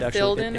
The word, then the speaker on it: Ithildin: I think he was saying that he sees an Ithildian, and Ithildian is like a treasure that you can collect. Yeah. If I pronounce that correctly. I think you did, Ithildin actually.